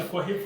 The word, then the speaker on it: Kohif: That's how it's pronounced, right? Kohif? Yeah, Kohif Pharmagenix.